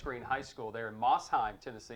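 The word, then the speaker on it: Mosheim: Against one of the greatest rivals there for West Green High School there in Mossheim, Tennessee.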